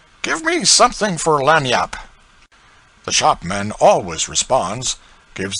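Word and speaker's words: lagniappe: A nice limber, expressive, handy word, lanyap. They pronounce it Lanni yap.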